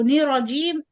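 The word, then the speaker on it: الرَّجِيم: put the isti'athah here, the noon you join it with ra shadda. So nir rajim, there is no shadda now. It's like you only pronounce ra fatha. So give time to the ra sakin. Nir ra, two ra. So say it again and emphasize the first ra.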